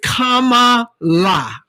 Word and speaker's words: Kamala: what my shirt says that's a it says comma la okay kamala because everybody they call that woman